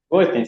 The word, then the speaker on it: Goldsztajn: Es la versión en alemán de mi apellido, y bueno, esa es la versión en polaco. Pero se pronuncia igual.